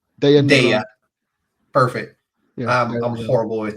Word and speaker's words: Daya: Is that how you pronounce her name? Daya.